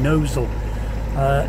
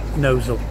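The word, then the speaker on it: Gnosall: If you are on a boat and you haven't been before, stop in Knowsall. It is spelt differently, it's spelt Gnozzle, but it is called Knowsall. Lovely place, go and explore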